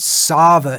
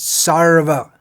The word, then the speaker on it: Sarva: It's not Sava, it's Sarva. For those like myself raised speaking English, we might not even hear the difference, but there is a difference.